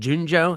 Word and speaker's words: Junjo: first couple albums the Spanish label you did Junjo is that how you pronounce it yes um and then the US